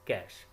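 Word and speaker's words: cache: type of memory is कैश memory which can be pronounced as कैश अच्छा अब जहन में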